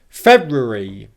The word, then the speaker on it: February: So if I say the word quickly how I would say it in British pronunciation, February, February, February, February, that and E sounds like it becomes re, okay?